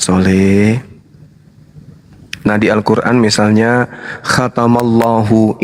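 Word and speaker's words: ختم الله: Nah di Al-Quran misalnya khatamallahu. Ini kalau dipisah cara bacanya adalah khatama Allahu. Itu kalau dipenggal. Tapi kaidah membacanya disebut kemudian makhraj dan nahwu Arabnya. Cara membacanya khatamallahu.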